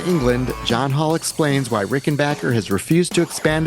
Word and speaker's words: Rickenbacker: For the record, by the way, it is pronounced Rick and Backer, not Rick and Bacher.